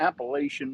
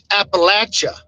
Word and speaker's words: Appalachia: I'm one of your host JT joined by my man TA on the road somewhere in the Appalachian Mountains and up northern Appalachian Mountains producer with us tonight.